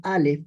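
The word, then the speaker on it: אָלֶף: Y cuando pronunciamos Aleph, estamos hablando de lo literal.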